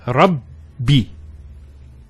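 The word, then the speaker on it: ربي: The first Ba takes a Sukoon. And the second takes a Kasra. So it's Rabbi. So you notice actually that a shadda will always give a new syllable to the word, because the new syllable starts here. It's in between the first and the second letter that has the shadda.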